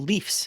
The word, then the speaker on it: Leafs: Why is it the Maple Leafs versus leaves? Because normally plural of a leaf would be leaves. Yeah. Because the Maple Leafs as a team is a proper noun capitalized, the proper way to say it in the plural is leafs.